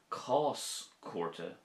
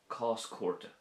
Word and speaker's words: Cás Cúirte: Cás chúrte would be a court case. Cás chúrte.